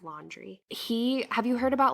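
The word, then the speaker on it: Laundrie: name wrong before sorry it's not landry it's laundry he have you heard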